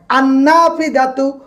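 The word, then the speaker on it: النافذة: আন্নাফিদাতু, নুনের পূর্বে লাম আসছে, আর আমরাও জানি নুনের পূর্বে যদি আলিফ লাম আসে, আলিফ লামের নুনের পূর্বে আলিফ লাম আসলে আলিফ লামের ক্ষেত্রে লামের উচ্চারণ হবে না।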